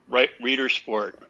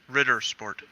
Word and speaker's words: Ritter Sport: Matt, Costco selling Reader Sport. Or Rider Sport? I'm not probably saying it right. Reader Sport? Ritter Sport. Yeah, Ritter Sport.